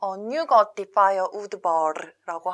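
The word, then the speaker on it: Nyugati pályaudvar: 서부역은 어떻게 발음을 하냐면 뉴거티파이어 우드버르라고 합니다.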